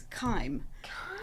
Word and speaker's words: Kiem: It's Kiem. It's it's a German name that travelled to Australia and got all confused. So, in Germany, you would pronounce it Kiem, but the other side of the world, you spin things around a bit. It's Kiem. Very nice.